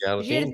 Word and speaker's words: jardim: Do you remember that I said that the M is there not to be pronounced as an M, right? No, just to give you the So, finishing sound. it's Jardim. just the sound. So the sound is the I.